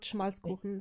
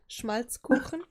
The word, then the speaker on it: Schmalzkuchen: It's called Schmalzkuchen. So this is something ever since as a kid we used to get there in Hamburg. It's pronounce this. Schmalzkuchen.